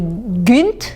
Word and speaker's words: Gynt: pire mais P et Gunt ça s'écrit avec un y mais en norvégien le y est une sorte de U un peu sur le bout des lèvres alors